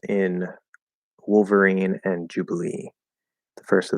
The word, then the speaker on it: Wolverine: So what syllable do you stress in Wolverine and Jubilee? The first or the last? Good question. So for me, Wolverine. If you say Wolverine, it sounds just fine as well.